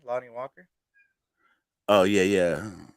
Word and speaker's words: Lonnie Walker: of right now I don't know how to pronounce his name is like l-o-n-n-i-e something lonely Walker Lonnie Walker oh yeah yeah how did you how did you say it Lonnie Walker that's not what you said